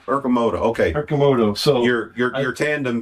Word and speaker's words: Arcimoto: So how do you manage it when it's time to put your pronounce that for me. Arcimoto. Arcimoto.